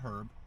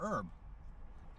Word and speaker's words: herb: You can pronounce it herb or herb.